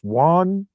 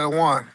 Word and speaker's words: yuan: Iranians through how do you say the Chinese yuan? Yeah, the one.